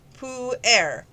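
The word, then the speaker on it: pu-erh: per a and that's spelt p p-u-e-r-h pronounced pou air this dark tea has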